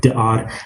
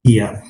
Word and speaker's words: Dia: By the way, yeah, she also acted in Da'ar as well, or Dia, or Da'ar, as South Africans call it Da'ar, but it's Dia, which starred G.V.